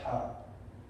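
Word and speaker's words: ح: It comes from here. And you have to take air with the word when you pronounce it.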